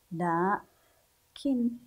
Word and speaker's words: لكن: غير موجود في الكلمه لكن لكن الف بعد اللام الرحمن الرحمن الف بعد